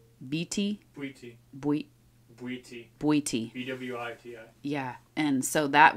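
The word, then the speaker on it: Bwiti: there um how do you say it B BT b-w-i-t-i yeah and so that was kind of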